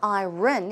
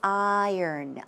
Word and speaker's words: iron: you you pronounce it it's not iron it's iron iron iron stomach also diarrhea just